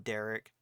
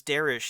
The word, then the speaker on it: Darish: his parents call him Derek. I don't remember... Darish? Oh, it was Darish. He says that it's supposed to be pronounced Darish, but his parents say Derek.